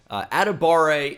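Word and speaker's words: Adebawore: at a bar a atabare even though it doesn't look like it'd be pronounced that way adibare is a freak freak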